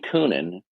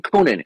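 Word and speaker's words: Koonin: for you who your great embarrassment Dr Eugene coonan is one of the few oh so you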